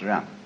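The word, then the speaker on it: 仁: I don't know what they are but it's pronounced R and it's a character Chinese character that confucious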